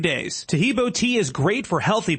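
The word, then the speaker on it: Taheebo: Tahibo is spelled T like Tom, A-H-E-E-B like boy. Oh, that's Tahibo, and then continue with the word tea and then the word club.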